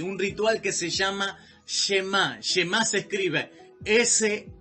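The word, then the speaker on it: Shema: lo repito nuevamente un ritual que se llama chema que más se escribe ese h&m a un acento la llama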